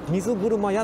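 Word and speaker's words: 水車亭: 書いてある、あれ水車屋って読ますんですよね。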